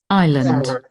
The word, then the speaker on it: island: Island. Island. Mm-hmm. Island, right. So there is, Ashley, there is a consonant that is silent. Can you please tell me what's that consonant? I-S or land? S.